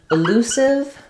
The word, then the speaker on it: elusive: about the word elusive so in elusive we have the stress on our L syllable and here letter U says the o sound like we were talking about in pool and school so I'll rewrite that with two o's that's a t typical spelling that I use to try to trigger your uh understanding the vowel sounds um and then we